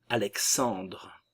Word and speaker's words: Alexandre: Alexandre, le E final ne se prononce pas, no lleva tilde. C'est un E muet.